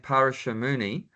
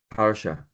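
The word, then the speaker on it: Parāśara: Yeah, so according to one great sage named Parashamuni, then who is the father of Vyasadeva? The father of Vyasadeva, Parashamuni. Parashara.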